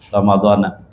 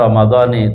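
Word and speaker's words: رمضان: Yang banyak itu kan ramadana. Padahal yang benar ramadani.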